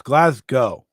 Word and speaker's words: Glasgow: loser leaves town match hold on so it's glasg go yes apparently you say GL did you say